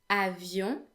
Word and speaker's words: avion: They all end in O-N, which in French makes the vowel sound n. This sound doesn't exist in English, so just so you know, the way it's pronounced is pretty much like the sound O, but instead it is nasal.